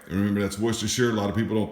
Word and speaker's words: Worcestershire: All right, remember that's Worcestershire. A lot of people don't pronounce it well. This final syllable is going to be pronounced like New Hampshire.